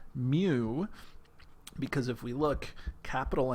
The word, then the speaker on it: mu: from micro is pronounced mu it's a Greek letter it's a lowercase Greek letter mu because if we look